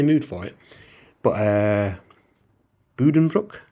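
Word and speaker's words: Buddenbrooks: for it, but uh Budenbrook as I believe it's pronounced. Uh not Budenbrooks. I think Budenbrooks is a from what I've seen potentially uh like a very anglicized pronunciation of it, but it's bu it's a boo sound rather than a B.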